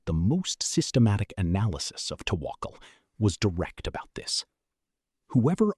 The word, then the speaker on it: tawakkul: Pronounced tawakkul.